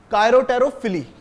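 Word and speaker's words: chiropterophily: उसको कहेंगे क्या कहेंगे कायोतेरोफिली कायरोटेरोफिली इसमें पी है जो साइलेंट है ठीक है एंड्स के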